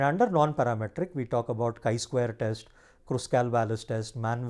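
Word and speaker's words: chi-square: when we pronounce it we don't call it as Chi square or CH Square rather we call it as the kai Square so when we write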